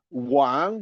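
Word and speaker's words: 王: And I would like to end by the fact that Wang, the king, is a homophone with another word, Wang, pronounced at the third tone. Wang king is pronounced at the second tone.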